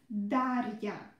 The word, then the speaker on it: Дарья: Our name is Дарья. Рья, рья, рья. Try to pronounce it, this part, really short. Don't pronounce it Рия, Рия, no, Рия, Рия, Рия, Дарья.